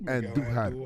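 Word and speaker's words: Andújar: Roll your R's when you say Andujar. Roll your R's.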